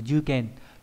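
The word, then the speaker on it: 受験: Âm ghép đọc là dư, không có trường âm. Ví dụ trong từ dư kèn là thụ nghiệm, là dự thi, nó bằng cái từ shikeo ukeru.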